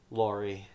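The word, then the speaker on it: Laurie: name hmm Lori Lori yeah it's Lori um Lori not lorry lorry lorry I kind of pronounced his name simple thing she tells her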